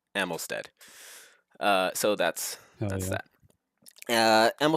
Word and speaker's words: Amylsted: Amylisted, as others have pronounced, and I don't think I don't think I fixed that in the description. But it is actually pronounced and spelled Amylsted.